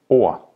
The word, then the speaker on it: ord: is men not meant word in Danish is called or and if you were to pronounce the d it would be or but you're not saying the D because it's mute so you're saying or or B which is table